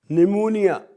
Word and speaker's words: pneumonia: Pneumonia. Where goes the P? Because there's no constant between P and N.